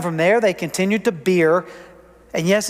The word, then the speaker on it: Beer: And from there they continued to Beer. And yes, it's pronounced beer.